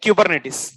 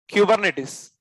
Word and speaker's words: Kubernetes: How to pron this one? Kubernetes. Sure. Kubernetes. Sure. Is it Kubernetes or Kubernetes? Q. Okay. So then Okay. So what we going to call it exact name is Kubernetes. Someone will call this Kubernetes. Not our said like it's of from English accent. But if you are like here accent is exact pronunciation is Kubernetes.